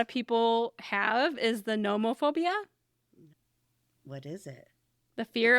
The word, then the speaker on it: nomophobia: people have is the nomophobia. What is it? The fear of being without your phone. Oh, is it spelled with a P or an N? No, NOMO phobia. Nomophobia.